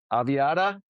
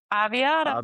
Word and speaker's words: Aviata: with friend of mine, Holly Ray, over at Aviata. Is am I saying it right? Yep. Aviata.